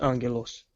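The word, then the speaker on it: Άγγελος: one stays so how do you spell um Angelo's Angelo's what ever you spell alpha gamma gamma ETA lambda omicron Sigma and that's a spell on yellows that's pronounced Angelo's and in there it's just a gamma gamma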